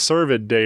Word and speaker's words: Cervid Day: probably should have asked is survey day right that's how I pronounce because I don't think I've ever said that word until right now besides you nailed it yeah all right servant